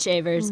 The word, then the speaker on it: Shavers: It is Shavers, but yes, nonetheless, fancy is better.